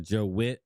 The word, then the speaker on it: Vitt: Or Joe Witt. I think it's pronounced Witt, but it's spelled with a V.